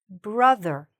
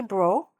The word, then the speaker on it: brother: So, also be careful of the o. Don't say bro. That's different. Sometimes as slang you say, "He's my bro." That's different. Okay? But, if you're trying to say the full word, okay? This is my brother. Okay? Brother. Where's the stress? Here. Brother.